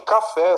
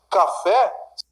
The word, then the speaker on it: café: Café, sílaba tônica é a última, está acentuada. Café, é uma palavra oxítona.